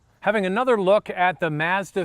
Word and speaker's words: Mazda: another look at the Mazda 3 once again for those of you who live in the United States in Canada we call it Mazda not Mazda so I am saying it correctly this is a Canadian